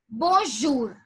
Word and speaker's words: bonjour: the French language is bonjour. Bonjour. So I would give you over here a pronunciation technique. Okay. In almost all the salutations starting with bon or bo, the letter B-O-N is pronounced as bo.